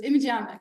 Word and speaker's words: imageomics: images so we got to practice so it's imic so say it with me imic again image